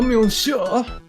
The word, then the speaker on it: monsieur: And voilà, monsieur. Okay, Mako, again. If you see a word that ends in a consonant like that, no, you didn't. You don't pronounce the final syllable.